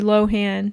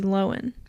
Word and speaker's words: Lohan: know Lindsay Lohan Lindsay people call her Lindsay Lohan but it's actually Lindsay Lohan who's it when he